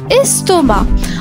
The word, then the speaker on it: estomac: La lettre muette. Le c à la fin, estomac.